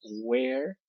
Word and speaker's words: where: Por cierto, la pronunciación de esta palabra es where y esta es weren't, ¿vale? Esta E nunca se pronuncia, ni con afirmativa ni en negativa.